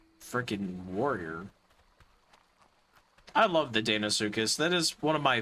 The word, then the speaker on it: Deinosuchus: Okay, it is Deinosuchus. Okay, not Dano. It just feels weird calling something Dino Like, not D-I-N-O, like dinosaur, but D-E-I-N-O.